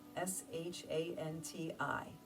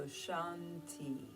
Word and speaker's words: Shanti: And the word Shanti, Shanti, S-H-A-N-T-I, Shanti, actually means peace. Since it has two syllables, some people enjoy in their mind as they inhale, they're saying Shan, as they exhale, they say Ti. So Shanti, Shanti, Shanti.